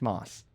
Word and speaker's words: Moce: candidate is that his name is in fact moss what why did you choose a bizarre spelling